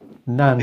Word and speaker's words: Nandy: How do you pronounce her surname? Lisa Nandy.